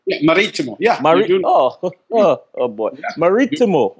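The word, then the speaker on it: Marítimo: So Club Maritimo, am I pronouncing it correctly? Yeah, Maritimo.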